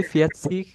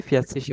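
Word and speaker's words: vierzig: এটা কখনো কখনো 40, হচ্ছে ফিয়াৎসিক পাবা, কিন্তু মোস্টলি হচ্ছে ফিয়াৎসিসই বলে।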